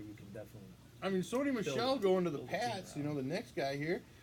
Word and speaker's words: Sony Michel: Sony Michel's how you say it right. I'm fucking really bad. Yeah, no, you're Sony Michel. You're right. It is Sony Michel.